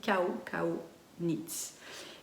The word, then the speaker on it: Kau Kau Knits: chilienne et ça s'appelle Kau Kau Knits. Alors ça s'écrit K-A-U-K-A-U, mais en espagnol on prononce chaque lettre, elle le dit, donc ça se dit Kau Kau Knits.